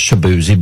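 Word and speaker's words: Chibueze: with c h i b u e z pronounced shabzi but it's spelled differently and if I was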